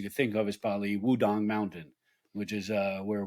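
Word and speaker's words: Wudang: think of is probably wudong Mountain which is uh where Wu-Tang got their name from it's actually pronounced dong uh but that they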